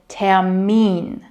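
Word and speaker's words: Termin: And in German, the stress is on the second part. So tamine not but repeat after me.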